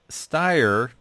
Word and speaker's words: Steyr: It's a 1939 Steyr 220 Cabriolet. Now, is that correct? I mean, I know that's a German company. How would you pronounce that? Yeah, that's correct. Steyr.